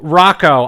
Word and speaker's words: Rocco: Rocco. I for years thought it was Rocco, but then like a year or two ago I was like, wait, why would it be Rocco?